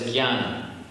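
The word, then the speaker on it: ज्ञान: It's one of the only words in Sanskrit that is not pronounced as it's written.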